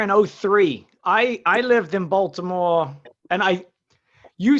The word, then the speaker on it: Baltimore: we say Baltimore, but people Yeah. in Baltimore, they pronounce it like it's like a D in there. Well, they say Balmer.